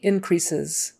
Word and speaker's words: increases: there somewhere um Quality increases increases increases so an s in the middle and a z sound on the end because that e s is usually an easy sound quality quality it's a